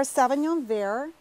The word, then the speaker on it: Sauvignon Vert: Well, this is our Sauvignon Vert, and you don't pronounce the T.